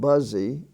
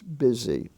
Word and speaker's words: busy: exceptional spellings for example the word busy is spelled b-o-s-y it is not buzzy it's not bussy it's busy and p-r-e-t-t-wise pronounce pretty